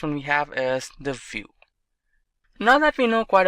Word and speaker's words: Vue: application solution vue.js is commonly referred to as View and pronounced as vuejs or view is rightly so